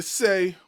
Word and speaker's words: Esz: Pronounce it like the letter, don't say it at all.